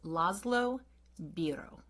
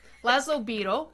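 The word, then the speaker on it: László Bíró: on how his name is going to be pronounced? I think I looked up some phonetic things, and I think his name is Laszlo Biro.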